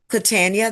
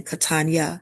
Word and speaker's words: Catania: Catania, that's how she pronounces her first name rather than Catania, Catania Warner.